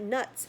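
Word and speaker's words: Knuts: Give him 5 nuts, said Hagrid sleepily, and that nuts is spelled K-N-U-T-S. The K is a sneaky K in that one.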